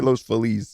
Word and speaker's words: Los Feliz: How do you say Los Feliz? Los Feliz.